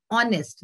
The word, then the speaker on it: honest: इसमें हमेशा ध्यान रखिएगा कि इसमें एच है बट ये एच साइलेंट होता है। कुछ हमारे वर्ड्स ऐसे होते हैं जो साइलेंट होते हैं, जिनका हम प्रोनाउंसिएशन नहीं करते हैं।